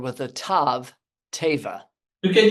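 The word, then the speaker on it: tevah: The word for an ark is the word teva. जब आग के लिए अब्रानी लफ्ज इस्तेमाल, तेवार लफ्ज इस्तेमाल हुआ है, And that's spelled with the letter T, teva.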